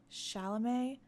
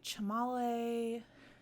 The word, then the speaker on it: Chalamet: that movie is uh Timothy chalamet is how you say his his last name properly but I never say his last name properly it comes out all wrong all the time I say chamale I just I cannot